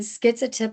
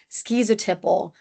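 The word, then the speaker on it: schizotypal: include paranoid personality disorder, skezoid or skitsoid personality disorder and schizotiple or sky uh oh my goodness skezotiple personality disorder. You'll hear them pronounced both ways depending on the region where someone's from.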